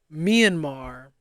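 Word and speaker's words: Myanmar: India or myamar I don't know how to pronounce that please I don't like not knowing things oh me andmar thank you because I was totally fumbling that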